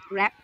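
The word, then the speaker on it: wrap: প্রথমেই দেখো র্যাপ, ঠিক আছে? আমি আরটা উচ্চারণ করলাম, ডাব্লুটা কিন্তু উচ্চারণ করলাম না।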